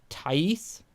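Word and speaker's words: Tais: using this rifle like tice t his name is spelled t-a-i-s and he is a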